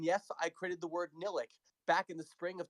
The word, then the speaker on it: Nillihc: I tried pronouncing it a couple of times, and I thought, Nillihc, Nilleth, Nillihc. Yes, life is Nillihc, and I've just been rolling with it ever since.